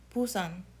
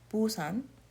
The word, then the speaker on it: Busan: Even though it is a B, it's pronounced more like a P.